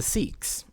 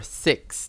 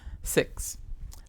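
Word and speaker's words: Sikhs: another aspect of this too is with the siks right or or six technically that's how you have to pronounce it's t it's six um and that is that they also were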